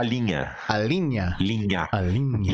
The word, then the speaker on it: linha: In Portuguese, we say a linha.